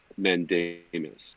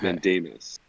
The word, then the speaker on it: mandamus: get down is uh is the pronunciation of mandanis so it's mandamus which is which is actually a latin word which means uh we command as the mus ending